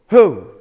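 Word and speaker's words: הוא: like ooh so and the letter at the end is the letter what Aleph what does it sound like it's silent so how do we pronounce it hi how do we pronounce it whoo okay because you have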